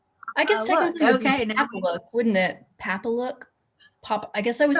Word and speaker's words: Papalook: brand name again and if you need to spell it that would be great too yes it's called papalook p a p a l o okay okay